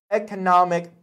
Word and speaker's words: economic: You would say economy, okay? Economy, but you would have to say economic, okay? Economic potential. And number 5, that would be generate, okay?